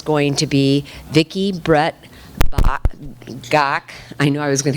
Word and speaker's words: Gach: Our first chef is going to be Vicki Brett Gach. I know I was going to get that wrong. She says it rhymes with Bach.